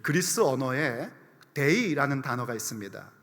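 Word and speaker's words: δεῖ: 이때 마땅하니라라고 번역된 이 단어는 그 그리스 언어에 데이라는 단어가 있습니다. 우리 영어의 데이 말고요, 그리스어의 데이.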